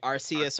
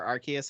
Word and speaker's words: Arceus: I think it's either way, right? Arceus or Arceus. I think they both apply.